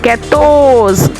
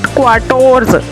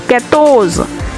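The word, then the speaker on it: quatorze: 14 ketos, it not quarters, it's ketos. 15 cans.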